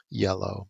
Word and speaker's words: IELLO: Yellow. Yeah. Yellow. Say I it always say I yellow. like Danny. Danny uh, Aiello, yeah. yeah, it's yellow. Think of it like Yellow. pronounce it like the color.